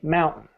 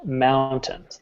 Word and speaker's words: mountain: Most people say mountain. It's pronounced mountain.